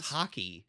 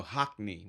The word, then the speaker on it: Hockney: was Hockey. No, Hockney with an N.